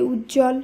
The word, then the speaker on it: উজ্জ্বল: উচ্চারণ হয় না তাই উজ্জ্বল সান্ত্বনা মহত্ব দ্বন্দ এই সকল শব্দ যুক্ত ব্যঞ্জনের সঙ্গে বফলা যুক্ত থাকলেও বফলা কে বাদ দিয়েই শুধুমাত্র যুক্তবর্ণ সহযোগে শব্দগুলোর উচ্চারণ করতে হবে আর আজকের আলোচনার শেষ